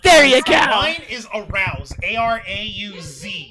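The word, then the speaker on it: Arauz: Mine is Arouse. A-R-A-U-Z. It's pretty easy to mess up that last name. How is that Arouse.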